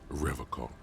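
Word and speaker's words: Revachol: He pronounces Revac with a hard K, unlike other people.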